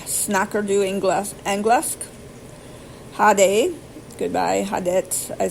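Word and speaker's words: ha det: Hade, goodbye, hadet, I said hadet because I've heard that, and god dag. Hadet is spelled H-A, first word, second word, D-E-T.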